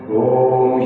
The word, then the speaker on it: ओम: इस तरह निष्पति भाव के साथ तीन बार ओम का उच्चारण। ओम का उच्चारण करते समय अ, उ और म इन तीन शब्द का इस्तेमाल जरूर करना।